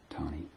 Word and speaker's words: Ptoughneigh: It has been named Tony promptly. That is spelled Ptoughneigh. Tony.